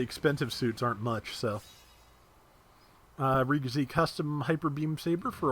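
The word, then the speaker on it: Re-GZ: And yeah, the ID supposedly stands for ideal, but according to the katakana, the name is pronounced Riga Z.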